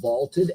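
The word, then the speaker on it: VLTED: to be using the vaulted app it's spelled v-l-t-e-d vaulted is a place where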